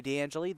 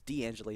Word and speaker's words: D'Angelo: of the season broadcast it is d'angelo not dan jelly my apologies so after